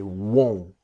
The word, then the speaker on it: won't: to want this is the pronunciation part that will not is won't you see the mouth it says small won't won't but want is different that this part here